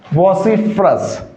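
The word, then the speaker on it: vociferous: फिर मैं बात करूं साथियों कि ये जो वर्ड है ना कौन सा वॉसफरस ठीक है? फेरस नहीं होगा साथियों। इसका उच्चारण यानी करेक्ट प्रोनंसिएशन क्या होगा? वोसीफेरस।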